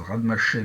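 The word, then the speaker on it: Rademacher: loi de ce nom, si on le prononce à la française, Radmaché, mais j'imagine qu'il y a une autre prononciation, de paramètre 1,5.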